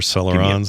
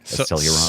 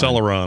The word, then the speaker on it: Celeron: And I was like, I think that's how you say it, right? Celluron. Celeron, I think. Celeron.